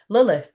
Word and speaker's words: Lilith: go it's going to tell us a story Lilith pronounced Lilith is known as Jewish mythology as the